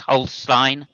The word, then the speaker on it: Holstein: Holin milk. And Jackie says I like I like gy milk better. Sorry. I think you'll find that's pronounced Holstein milk.